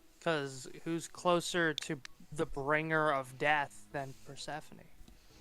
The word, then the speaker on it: Thoth: Oh yeah, Toth. Oh, is it Thoth? I thought it was I think it's Thoth. Toth. I don't think the H is pronounced.